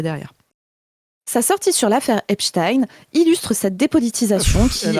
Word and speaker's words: Epstein: Moi je suis française et donc je prononce les suffixes à l'allemande comme pour Einstein, comme pour Frankenstein, merde, et c'est bon.